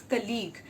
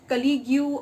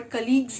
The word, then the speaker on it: colleague: Now this word has two syllable, co and league.